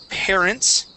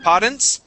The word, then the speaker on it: parents: so the word is parents uh right here so instead of poent pair parents parents parents okay give me an R sound there pair parents parents parents